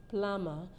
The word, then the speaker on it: plumber: you have a leakage we said the B is not pronounced that the word is pronounced as plumber and not plumber as we generally call it so it is